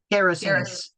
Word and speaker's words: Gerasenes: Gerasenes.